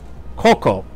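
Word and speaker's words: Xoco: Also, literally, if you look it up, it's spelt X-O-C-O. Coco, I think it's how you pronounce it.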